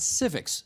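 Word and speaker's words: CIVIX: Ken is the Director of Education at Civics, C-I-V-I-X is how you spell it, Civics Canada.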